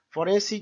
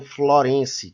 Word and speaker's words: forense: É muito comum as pessoas se confundirem e pronunciarem florense, que vem de Florença, quando na realidade o correto é forense, que vem de foro, né, de tribunal.